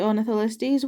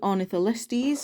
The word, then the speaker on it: Ornitholestes: Here is the scan code for the Ornitholestes. Once again, one you should already have by now because it's an older figure. It is the Callovosaurus' wave mate. But yeah. So yeah, that is the Ornitholestes.